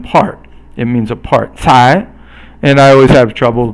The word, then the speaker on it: 才: 才. You have to kind of really, I guess it's almost like you're spitting out when you say 才. I'm almost saying third tone, but it should be second tone.